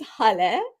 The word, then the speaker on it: Haleh: So my name is Haleh, pronounced like hallelujah.